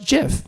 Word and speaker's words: GIF: respect for the creator I think you should pronounce it jiff you know let's move on a little bit